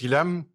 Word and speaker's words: Guillaume: So my name is Guillaume. If you watch this instead of listening as a podcast, you'll see my name tag. Here you go. Usually Americans, they don't pronounce it well.